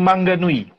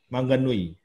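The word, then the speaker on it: Maunganui: Ini adalah masih di Pulau Utara juga, Maunganul atau gimana bacanya nih, Bro Welly? Maun Mangganui. Mangganui. Ya, Mangganui.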